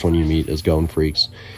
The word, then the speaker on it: Freecss: you meet is Gon Freecss. And his last name, Freecss, it's not spelled like Freaks.